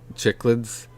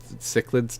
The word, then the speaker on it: cichlids: Like you're not going to take um like chicklids, cichlids, chicklids, however you want to pronounce it, cichlids.